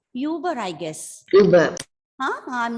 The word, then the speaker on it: Uber: Ma'am, UBER should be pronounced Uber or Uber. It's UBER. Uber.